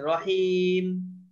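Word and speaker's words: رحيم: সেরকম উচ্চারণ হ্যাঁ হ্যাঁ আর লম্বা হা টা আপনার হলকের ভিতর থেকে হবে হা হলকের শেষ ভাগ হা রহিমের শেষে রহিম রহিম যেটা লেখা আছে ওইটাই তো লম্বা হা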